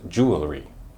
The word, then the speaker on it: jewelry: here 's a Hint it has three syllables but some people think that's too many they narrow it down to two are you ready to hear it it's jewelry jewelry some people will